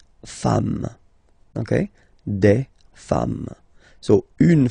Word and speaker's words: femmes: at the end, and as we said, you don't pronounce it, so you get des femmes, okay?